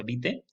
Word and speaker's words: vitae: Ya vimos el currículum vitae, que aclarábamos que se pronuncia vitae, y hay otros como la solicitud de empleo, etcétera.